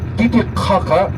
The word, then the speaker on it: Titicaca: Titicaca is the right pronunciation, the name of this lake, not Titicaca.